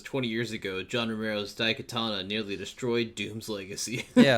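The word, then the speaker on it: Daikatana: says find a new studio ion da Katana da Katana you're not that's why you're not saying it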